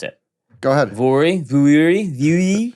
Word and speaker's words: Vuori: Vuori. How? I'd like to hear the story behind how they named this company because I can't ever pronounce it. Go ahead. Vuori.